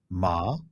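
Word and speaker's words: แม่: point of confusion for many new learners. It's only the tone and some slight difference in pronunciation that differentiates the words. Mother has a rising tone, ma, and dog has a falling tone, ma.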